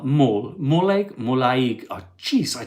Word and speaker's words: Molde: It's not Mal, Molde.